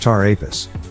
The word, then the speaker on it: Ptah Apis: Phonetically, the zodiac sign Taurus, which represents the bull, is similar to Ptah Apis, pronounced Tar Apis.